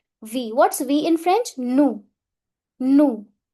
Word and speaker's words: nous: Nous. Nous. It's never nous. Last s always remain silent.